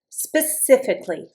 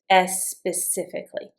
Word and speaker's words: specifically: Specifically, specifically, specifically now, if you are a Spanish or even a Portuguese speaker, make sure that when you pronounce this, this is going to be really hard for you. Don't put an e on the front.